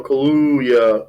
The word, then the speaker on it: Kaluuya: It's Kaluuya.